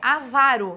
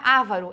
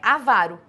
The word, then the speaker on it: avaro: a mesma pronúncia aqui a pronúncia é avaro não é avaro é avaro eu tenho uma paroxítona